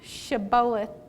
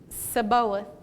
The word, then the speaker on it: Shibboleth: If he said no, then they would say to him, "Say now, Shibboleth." But he said Sibboleth, for he could not pronounce it correctly.